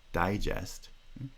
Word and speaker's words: digest: word like digest digest there are two stresses the first stressed syllable is primary stress and the second stressed syllable has secondary stress because they're stressed neither syllable has vowel reduction there's no pronunciation of schwa but the pitch of the first syllable because its primary stress is higher than the pitch of the second syllable digest and we recognize